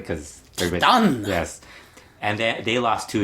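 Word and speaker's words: Titán: I should pronounce it correctly because everybody... Titan!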